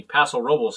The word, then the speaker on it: Paso Robles: our favorite wine place paso robles or excuse me paso robles as the locals say but yeah this is